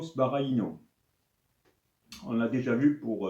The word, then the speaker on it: Sbaraglino: appellent donc le barino c'est écrit comme ça la prononciation ce serait plutôt sparaino on l'a déjà vu